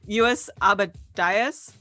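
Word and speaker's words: Lluis Abadias: from one of our listeners, but the artist is sorry, I had to double check that I pronounced his name right. US Abadias.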